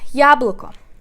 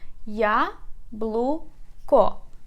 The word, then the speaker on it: яблоко: Яблоко. Let's divide it into syllables. So we have here 3 syllables. Яблоко. Яблоко. But we put stress on the first syllable.